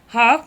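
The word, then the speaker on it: half: अंग्रेजी के मूक वर्ण हाफ में एल तथा नाइफ में के ये मूक वर्ण है। इनका उच्चारण नहीं होता है।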